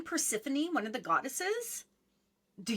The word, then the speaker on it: Persephone: Because I would look at the word and I read it as the letters are. Persephone. Like, that's Yes. not Yeah. spelled like Persephone.